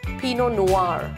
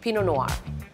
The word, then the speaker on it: Pinot Noir: Rose it's Rose it's not peanut Noir it's Pinot Noir the tea is silent the r is silent Pinot Noir it's not G again is silent it's vionie